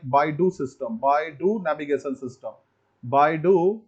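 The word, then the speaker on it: BeiDou: They pronounce it like Baidu system, Baidu navigation system, Baidu navigation system.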